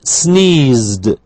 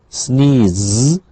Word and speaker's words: sneezed: She sneezed. Sneezed. Sneezed. Okay, simply a d.